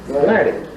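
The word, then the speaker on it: Latta: How do you pronounce that last name? L-A-T-T-A. Huh? Laddie? Laddie.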